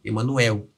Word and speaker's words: Emanuel: Só que como ele pegou essa palavra do latim, ele não percebeu essa contradição ali, porque no nosso português a sílaba tônica é na última, Emanuel.